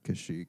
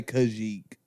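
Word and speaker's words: Kashyyyk: the wook home world and how do you pronounce it kashik that's an easy one you play Battlefront you know that if you're real Battlefront OG I think most people say Kik like like the the in 19 Republic bastila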